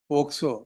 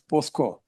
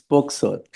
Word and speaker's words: POCSO: your lordship would say, listen until you say POCSO, not as POSCO. Telugu. Pronounced it properly, well, and therefore your lordship continue to hear me. Generally it is done that way. I keep correcting. No, it's POCSO.